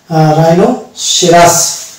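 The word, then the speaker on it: rhinoceros: তারপরে হয়ে যাবে আর এইচ আই, এখানে দেখতে পাবো আর এইচ আই এন ও সি ই আর ও এস, রাইনোসেরাস। তাহলে এখানেও আমরা এইচ এর উচ্চারণ করছি না, অর্থাৎ এইচ কে বাদ দিয়ে দিচ্ছি।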